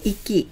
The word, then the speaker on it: 域: 한자어 식 발음 ( 온요미 ) 은 ' 이키 ' 입니다 .